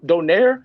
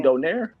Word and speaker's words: Donaire: No, ain't his name Nonito Donaire? His last name Donaire. Yeah, but they pronounce it Donaire.